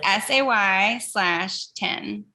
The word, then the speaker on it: Seitan: spell it the record it's say 10 okay all right yeah it sounded like satan but then it also sounded like seitan like the meat alternative and i was like